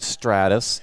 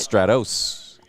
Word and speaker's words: Stratus: I asked, how do you pronounce it? They said, in Texas, it's Stratus. How else would you pronounce it? Stratos. What? It's an OS. Yeah, but it's still Stratos.